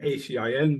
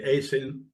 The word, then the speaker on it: ACIN: okay well thanks a lot for the opportunity uh to do this um you pronounce our name acin we normally say Asin Asian instruments founded in 1967 I started working there in 2001.